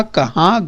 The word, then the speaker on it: कहा: उच्चारण देखिए, यहाँ पर ऊपर क्या है? चंद्रबिंदु है, कहाँ। और ये क्या है बच्चों? कहा। तो ऊपर चंद्रबिंदु नहीं है, तो ये देखिए दोनों में अंतर जरा ध्यान से समझिए।